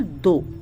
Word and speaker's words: though: Next word है grammar में बहुत ज्यादा इस्तेमाल होता है दो। THOUGH, GH जो होता है साइलेंट होता है, अगर लास्ट में लगता है तो दो मीन्स हालांकि या यद्यपि।